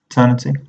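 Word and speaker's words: Aeternity: There's Eternity, which is spelled AE, Eternity.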